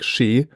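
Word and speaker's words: 四: For example, the pronunciation of 4 in Japanese is like shi, and which is sounds the same as like saying death.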